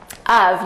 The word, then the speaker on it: of: Of. You'll notice that it's spelled O-F, but the pronunciation is very different than that.